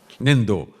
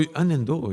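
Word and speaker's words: 粘土: 粘土 Nendo. So, Nendo is close to Nintendo, huh?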